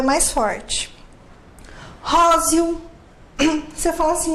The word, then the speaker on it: róseo: Como que você pronuncia? Róseo ou róseo. O E tem som de I.